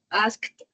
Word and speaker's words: asked: Es muy bien pronunciado ese asked. Anna asked. Ese suena como una t, igual que worked.